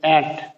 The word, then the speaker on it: ant: आगे देखें ANT, आंट नहीं है, ये चींटी जिसको कहते हैं, ये एंट, एंट ये वर्ड है एंट, एंट।